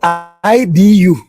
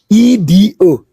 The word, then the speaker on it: Idu: Now, from the word IDU, or sometimes they spell it IDUU, they corrupted it to EDO. Please pronounce E for me. Is it E or E? Is it not E? E. Now, if that is letter E, DO is it not do? Is it not Idu?